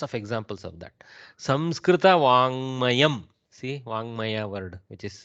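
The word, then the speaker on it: वाङ्मयम्: So don't pronounce the Gakara too much, because we in the south we tend to do that. Vangamayam, Vangamayam, like that.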